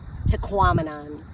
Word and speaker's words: Tahquamenon: They say that if you don't know how to pronounce it, when you look at it, think of phenomenon, Tahquamenon.